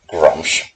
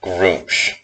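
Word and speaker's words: Gruumsh: egg is on my pce because I've always pronounced it grum and apparently it's supposed to be pronounced be pronounced groom so that's on me but still I have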